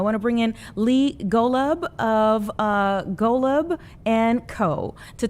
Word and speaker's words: Golub: And did I pronounce it correctly? Is it Golub? It's Golub.